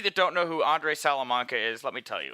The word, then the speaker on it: Salamanca: interview everyone with uh my good friend andre salamanca uh andre is is did i say your